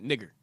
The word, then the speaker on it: Niger: Yes, that's how you pronounce it, Niger.